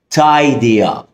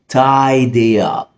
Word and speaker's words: tidy up: يعني خد بالك من دي بقى لان اغلبنا عارفها لكن بنغلط في نطقها، وهي تايدي اب. بص بلاش تيدي خالص، دي تايدي اب، يعني انظم او ارتب.